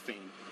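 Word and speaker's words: Phayme: First name, last name Fame. P H A Y M E. Pronounced Fame.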